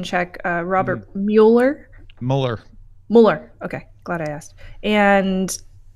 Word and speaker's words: Mueller: I guess just a pronunciation check. Robert Mueller. Mueller.